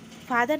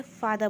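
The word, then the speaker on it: father: हम पिता को "फादर" कहते हैं—" फर-धर" मत कहो, "फादर" कहो, यहाँ 'र' मौन रहता है।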